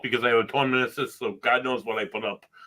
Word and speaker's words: meniscus: Meniscus. Yeah. Rhymes with kiss.